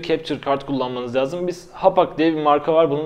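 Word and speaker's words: Hauppauge: şu anda görselde görüyorsunuz bunun yazılışı çok acayip alt tarafa Yazarım ben yine hapak diye okunuyormuş Ben de bunu yeni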